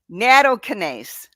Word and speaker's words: Nattokinase: What is Nattokinase? How did I do? Nattokinase? How close? Nothing? Not too good. No, not too good. How do you say it? Nattokinase.